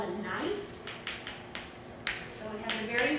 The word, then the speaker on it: gneiss: And then the rock that we're going to see is called a gneiss. So it has a very funny spelling. It is pronounced nice, so it sounds like N-I-C-E.